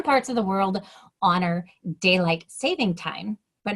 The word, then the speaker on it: daylight saving: that daylight savings or daylight saving stay tuned it is actually pronounced correctly as daylight saving and not daylight savings hi my name is